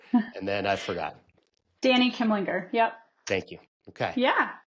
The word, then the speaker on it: Kimlinger: Dani Kimlinger.